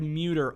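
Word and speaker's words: Muder: Craig Muter of the National Baseball Hall of Fame and Museum in Cooperstown, New York.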